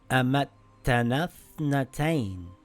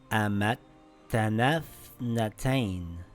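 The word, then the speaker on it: أَمَتَّنَا ٱثْنَتَيْنِ: Now we see a tha that has a sukoon, and before it is a long vowel. We drop the long vowel. Now we read it together as Amattanaa Ithnatain.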